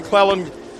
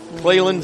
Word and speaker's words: Cleland: Warren Cleon Cleland. Sorry, keep getting his name wrong.